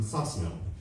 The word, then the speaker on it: Sosnow: I was an adult when I found out that Mickey pronounced his last name Sosnow.